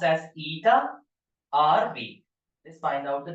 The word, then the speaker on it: eta: This is pronounced as eta rv.